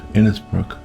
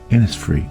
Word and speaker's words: Innisfree: photo from the aisle of inisbrook inis free inis free sorry I